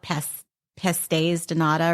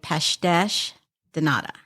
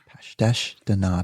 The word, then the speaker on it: Pastéis de Nata: So in the United States, we call it Pastéis de Nata or something like that. Yeah. But in Portugal, they say Pastéis de Nata. Pastéis de Nata.